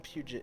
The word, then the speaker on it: Puget: Like the Puget Sound in Washington. As someone from Puget, it's Puget.